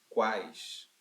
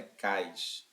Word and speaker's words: quais: Quais. Não é cais, é quais. Sai o som do U, né?